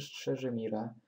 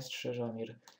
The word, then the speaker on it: Strzeżymir: No to wracamy do naszego Strzeżo czy Strzeżymira? Strzeżymira. Nie muszę się nauczyć, pierwszy raz tą nazwę w ogóle wymawiam. Strzeżymir. Strzeżymir, a nie Strzeżomir.